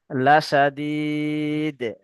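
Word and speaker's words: لشديد: খরি খরি লাসা লাসাদিয়াহুজু না, লাসাদিদ। লাম এখান থেকে একটু বানান লাসা আচ্ছা, এটা পড়েন পড়েন, তারপরে আমি বানান করতে বলবো।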